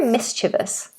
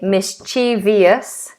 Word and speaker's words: mischievous: playful way you're very mischievous what are you up to what are you doing what's going on um lots of people say mischievious mischi but the pronunciation is three syllables missous mischievous mischievous you're